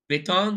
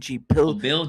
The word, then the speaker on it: biltong: I can't say this, the Bitong. Did I Biltong. say it right? Biltong. It's Biltong. Biltong.